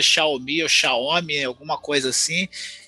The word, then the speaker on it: Xiaomi: Então ela fala Xiaomi. Então eu sigo Xiaomi. a pronúncia dela.